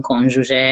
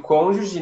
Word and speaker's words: cônjuge: Palavra muito difícil de pronunciar para mim, cônjuge.